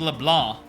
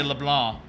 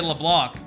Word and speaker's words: LeBlanc: It's the name of the cafe is LeBlanc, and they say it like that. They say LeBlanc. I used to say LeBlanc because I don't know